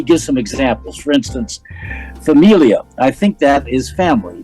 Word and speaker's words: familia: words and he gives some examples for instance Familia I think that is family did I say